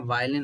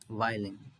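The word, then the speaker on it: violin: अब यहाँ वायलिन होगा, ओ को प्रोनाउंस नहीं करेंगे, वायलिन एंड प्ले।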